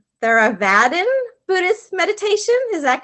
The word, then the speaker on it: Theravadin: teacher you practice let's see if i could pronounce this correctly theravadin buddhist meditation is that correct that's very good